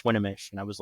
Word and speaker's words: Swinomish: say I call it Swan but I heard you just pronounces this a different way yes swinish so the O in there is actually pronounced like an A okay and I've been